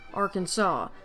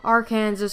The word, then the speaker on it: Arkansas: kansas but it's pronounced arkansas you have the french to blame for this apparently it's actually somewhat